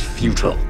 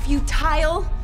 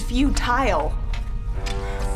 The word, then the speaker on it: futile: to disagree resistance is fule futile what it's pronounced futile not fut resistance is futile you will be assimilated